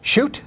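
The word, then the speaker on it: Schuette: I mean, you know, they have a right-wing attorney general there, Bill Shute. Shute? Is that how you say it? Yeah.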